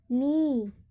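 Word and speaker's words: knee: Rule कहता है कि जब के एन से स्टार्ट हो वहाँ पर के का उच्चारण नहीं किया जाता है।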